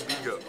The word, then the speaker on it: Vigo: but we landed at 4, and the plane doesn't leave till 7:20 for it's spelled Vigo, but it's said Vigo.